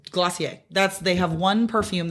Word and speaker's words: Glossier: your perfume I do um oh what's it glossier I love it who's that by it's glossier it's glossier that's they have one perfume that they do